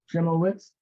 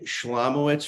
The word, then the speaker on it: Schlemowitz: like to present okay this is trimblewitz uh I didn't pronounce that correctly so please give me you uh put your name on record start and make your request absolutely it's schlemowitz for the court reporter